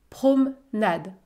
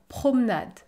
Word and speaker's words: promenade: continuera ensemble la promenade je ne prononce pas la lettre e dans le mot promenade parce qu'il y à une console avant et une consonne après promenade promenade le ch a couru